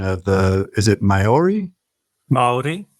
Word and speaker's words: Māori: Yaron, let me ask you, what's the correct pronunciation of is it Maori? Maori. Maori.